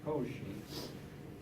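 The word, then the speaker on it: Cauchy: pronounced Koshi and Koshi did a lot of important things in mathematics.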